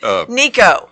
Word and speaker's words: Nico: Nico.